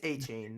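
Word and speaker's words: Achane: No Jalen Waddle, and I mean 8 touchdowns between who he now wants to pronounce his name Achan. No, it's A-Chain, not A-Chain and A-Chain.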